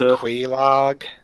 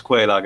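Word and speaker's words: Quelaag: Does it mean Quaylog? No, it's Quelag actually, because if you have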